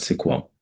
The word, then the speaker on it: SQL: And today we'll be looking at uh MySQL uh SQL, some people pronounce it as sequel.